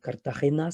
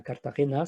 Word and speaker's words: Cartagena: des Indes, c'est, bah, elle est appelée là-bas, Cartagena si je prononce, correctement et c'est une magnifique